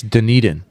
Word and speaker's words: Dunedin: It's Dunedin.